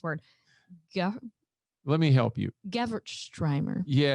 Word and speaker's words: Gewürztraminer: Gewürztraminer. Yeah, it's a that was terrible. Crazy word. How about Gewürztraminer? Gewürztraminer. Yeah, it's a funky one. German pronunciation, Gewürztraminer.